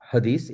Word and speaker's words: Hadith: hadith. It's spelled Hadith. So some traditions say hadith, some say Hadith.